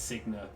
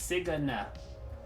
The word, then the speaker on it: Cigna: mean cigna her name are you sure that's not how it's spelled there's no a in there at all are you how are you going to try and tell me it's sigana it she's from another country